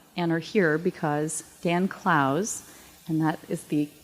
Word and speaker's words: Clowes: sure you know and are here because Dan Clowes and that is the correct pronunciation is one of the most celebrated graphic